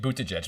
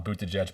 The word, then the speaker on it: Buttigieg: talking about uh pete bootaj now before the call we were practicing how to say his last name we kind of landed on boot to judge but if we're for